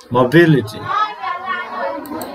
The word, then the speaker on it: mobility: Mobility. American, mobility. So mobility. B, here you see B syllable is clearly pronounced, and mobility are very quickly pronounced.